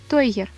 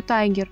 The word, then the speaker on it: тойгер: Тойгер или игрушечный тигр от английского слова той – игрушка, и тайгер – тигр. Есть распространенная ошибка в произношении названия породы. Кто-то называет ее тайгер, но правильно называется именно тойгер.